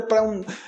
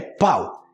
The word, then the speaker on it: pão: um pão francês pão mas a pronúncia aqui o pessoal fala espanhol é pau e pau também pode